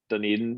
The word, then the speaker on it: Dunedin: to go see a blue jays i can't pronounce it dun dun dun dun dunny din dunedin yeah dunedin uh in florida that might be